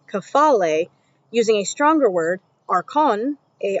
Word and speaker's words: archon: using the Greek kafale, using a stronger word, archon, a r c ho n, to convey that meaning.